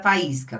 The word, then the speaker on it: faísca: Na palavra faísca, qual é a sílaba tônica? Is. Is.